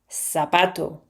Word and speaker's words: zapato: They don't read th, they say s. So, how American people will read this word? Zapato.